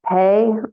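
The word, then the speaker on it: phat: wisdom of great Bliss and then pay I look that up I think that's how you pronounce it it's spelled p h a t it's a syllable that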